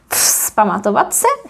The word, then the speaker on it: vzpamatovat se: Now it's very easy because only one of them is pronounced, or like one pair is pronounced as vs. And that is this one, the very last one. Vzpamatovat se, vzpamatovávat se. Vs, vs. Vzpamatovat se. And why? Because the following letter is p.